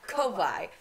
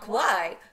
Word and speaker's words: Kauai: Is that how you pronounce Kauai? It? Yeah. Kauai. Not Kauai. Kauai.